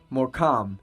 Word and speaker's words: Morecambe: Morecambe. That's how it's pronounced.